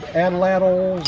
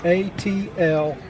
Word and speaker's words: atlatl: All right, so this, I've heard these called atlatls and all kinds of different things, but the word is spelled A-T-L-A-T-L.